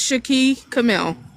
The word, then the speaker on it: Shaki Camille: I know it's Camille, right? Yes, it's um, can you hear me? Yes. Okay, it's Shaki Camille.